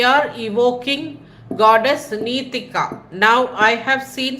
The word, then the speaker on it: Nitika: नितिका her name is नीतिका। Okay वो नी थोड़ा लंबा है। तो जब उनका मंत्र हम बोलते हैं हमें वो लंबा नीतिका बोलना है। मतलब नीतिका ऐसे बोलना है। यह है करेक्ट प्रोनाउंसिएशन।